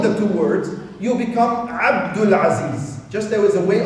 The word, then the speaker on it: Abdul Aziz: But to pronounce it in the Arabic language, when you actually make it a compound name, it becomes Abdul Samad, Abdul Aziz.